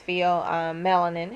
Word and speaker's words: pheomelanin: It depends on how you say it, but it's pheomelanin, has a yellow to